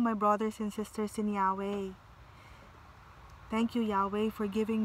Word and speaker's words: Yahweh: Inhale, exhale, way, way, way. Oh, blessed be Yahweh.